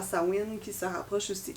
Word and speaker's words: Samhain: qui se en fait qui se prononce sawin sawin c'est la première fête